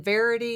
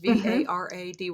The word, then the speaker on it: Varady: And Dr. Kristen Verity, is that how that's pronounced? Varady, the Every Other Day Diet.